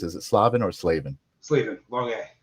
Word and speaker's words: Slavin: Slavven. Long a Slavven. Okay. You I've probably pronounced it both ways, but now now I'll remember now that I formally asked you.